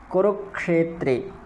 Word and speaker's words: कुरुक्षेत्र: वर्ग का ठीक है और ये जो है वो क और ष के मेल से बनता है इसलिए इसमें क और ष दोनों की ध्वनि आती है कुरुक्षेत्र ठीक धर्म क्षेत्रे कुरुक्षेत्र तो इसका उच्चारण क्ष और इसका उच्चारण है छ ठीक छ और क्ष में अंतर रखेंगे तो और भी